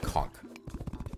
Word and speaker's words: conch: It's conk in American English. Uh, chunk conch in British English.